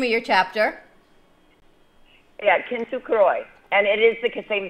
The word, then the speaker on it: Kintsukuroi: Tell me how you pronounce the name of your chapter. Yeah, Kintsukuroi.